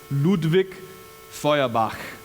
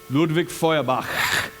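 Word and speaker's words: Ludwig Feuerbach: famous atheist named now since I grew up in a Germanic country I can actually pronounce his name but don't worry about it his name is ludvik foak ludvik foak everything's in German isn't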